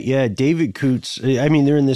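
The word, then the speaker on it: Coutts: fiance is there uh David Coots I believe is how you say his name c-o-u-t-t-s and there is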